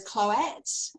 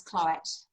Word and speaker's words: Cloete: Well, there's many versions, but I respond to all of them. Oh, how do you say it? So there's Cloete, Cloete, yeah, Cloete, How do you yeah. say it? I say it as Cloete now. Poet.